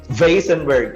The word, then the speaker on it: Weissenberg: wasenberg in germany and the spelling is is like this it's like the last name of the owner it's way great so that's why it's supposed to be vasenburg because it's german but because of um